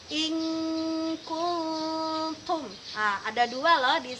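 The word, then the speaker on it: إِنْ كُنْتُمْ: Kita contohkan bacaan in kuntum. Tulisannya in kuntum. Tapi dalam ikhfa kita membacanya menjadi in kuntum.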